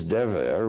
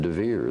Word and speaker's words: Dever: Well, my name is Dever, which in Hebrew unfortunately means plague or pestilence. It's one of the things, 10 plagues we want to avoid Dever. I changed it. I pronounce it Devir, the Holy of Holies of the Temple.